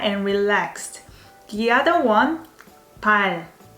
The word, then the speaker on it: 발: If the Korean letter is positioned as last consonant in a syllable, it sounds more like R. Let's give it an example of 발.